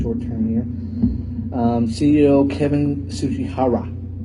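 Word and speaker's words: Tsujihara: CEO Kevin Tsuchihara. His name was crazy, but that's how you pronounce it, I guess.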